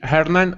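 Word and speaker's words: Hernán: Yes, Yeah, yes, but because we almost always pronounce H in English. Not always, but almost always. but if you say Hernan, I understand, no problem.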